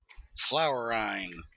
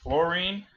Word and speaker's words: fluorine: Flowerine is what it looks like. It's one of those things, technically the way it's pronounced correctly, fluorine, is not how it looks because we mispronounced everything